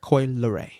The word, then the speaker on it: Coi Leray: Coi Leray. No, so there's no E in it? Coi Lee? Whatever the fuck. It's okay. Leray. I just know that's how it's pronounced.